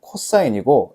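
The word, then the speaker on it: cos: 얘는 코사인이고 얘는 탄젠트라 읽어.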